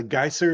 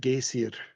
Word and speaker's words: geyser: Fun fact, uh geyser is one of the few words in English that we actually uh stole or borrowed from Icelandic. I lived in Iceland for a while and they pronounce it gaseier, but um yeah, very cool.